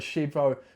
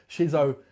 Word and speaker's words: Shizzio: I'll say that on live on the Shizzo Shizzio show. I've said it wrong.